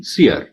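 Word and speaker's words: سِیَر: تو درست تلفظ فعل کے وزن پہ ہے یعنی سیر، اور اس کے لیے سیر الاولیاء اور فرخ سیر بولنا چاہیے.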